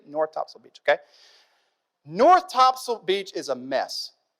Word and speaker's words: Topsail: Any of you guys go to Topsail Island in the summer? That's your beach of choice, yeah? Right? It's not Topsail, okay? It's Topsail. That's how they say it down south, okay?